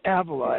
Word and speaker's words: Avila: And tell us about the Avila Institute, or Avila. How do you say it? It's Avila, as in Teresa of Avila, or Avila in Spain.